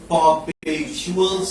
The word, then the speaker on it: perpetual: A perpetual stench. নিচে দাগ দাও। Perpetual।